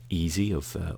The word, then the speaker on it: Eze: I think the one player I'm interested in is Eze or Eze actually is his name. It should correctly be pronounced, of Crystal Palace.